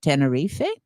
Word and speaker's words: Tenerife: And we spent part of the vacation in Tenerife or Tenerife, depending.